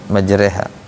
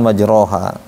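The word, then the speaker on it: مجراها: rbi la gofurur rahim gitu bacanya majreha bukan majroha coba satu-satu maj QQ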